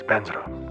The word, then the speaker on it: vajra: For example, the word vadra um in mantra is often recited as benzra by Tibetans. It's not a Tibetan word. It's just uh the Sanskrit word spelled in a way or pronounced in a way that works for Tibetan speakers.